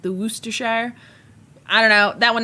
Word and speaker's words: Worcestershire: Did you see my response to your question on the community tab post about how to pronounce Worcestershire?